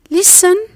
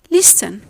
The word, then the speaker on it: listen: It's a mere silent letter. Therefore, its sound is muted. The word becomes listen and not listen.